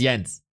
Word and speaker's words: Jens: to fill the Gap we can discuss how it's pronounced yens or or Jens yens is a German name I'm a German it's yens there's no discussion yens no discussion at all we're we're not at